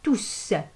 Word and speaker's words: tous: Alors, elle prend toujours le S et ce S-là, on le prononce. On dit toujours tous.